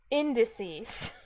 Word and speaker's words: indices: not English class but indices has stress on the first syllable oh okay I'll try again indices there you go indices